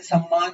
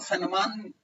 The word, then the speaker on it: सम्मान: वो बहुत सारी चीजें, जैसे सम्मान है तो सम्मान को सन्मान उच्चारण करने लगे हैं वो लोग।